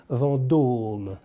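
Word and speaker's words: Vendôme: and apple bushran it's place vandoorne with a oh and an accent lancome vondom now let's move to a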